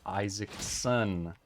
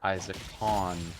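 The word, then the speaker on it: Isaacson: the author wrong to his name is Walter Isaac son not Walter Isaac con thought it was Isaac con one of those things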